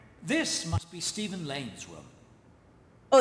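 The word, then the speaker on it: Stephen: If I remember correctly, this must be Steven Lane's room. Oh, it's pronounced Steven. I thought it's Stefan because of, you know, The Vampire Diaries.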